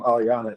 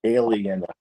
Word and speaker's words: Alianna: you guys um Eliana I've been pronouncing your name Aliana is that right yeah yeah because you're